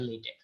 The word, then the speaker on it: LaTeX: আচ্ছা, বাংলা লেটেক নিয়ে কিছু জিনিসপত্র, বাই দ্য ওয়ে উচ্চারণটা হচ্ছে লেটেক।